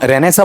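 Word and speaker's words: Renaissance: हम रेननेसा बोलते हैं। ठीक है? साहित्य ग्रंथ एकेडमी अकादमी की तरफ से किताबें छपी हुई रहती हैं। ठीक है? रेननेसा लेकिन वो रेनसा क्या प्रचलित में आ गया है।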